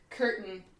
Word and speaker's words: curtain: And then, and just curtain, spelled with a C, but you hear the K sound.